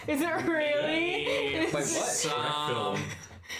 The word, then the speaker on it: Schreck Film: It's spelled SCHRECK Film. Shrek Film. Sounds like Shrek film to me.